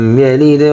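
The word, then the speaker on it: يَلِدْ: কুল হুয়াল্লাহু আহাদ আল্লাহুস সামাদ লাম ইয়ালিদ ওয়া লাম ইউলাদ। লাম মিম জবর লাম, লাম। ইয়া জবর ইয়া, লাম দাল জের লিদ, ইয়ালিদ।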